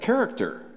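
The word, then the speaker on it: χαρακτήρ: It said character. That's how you say it.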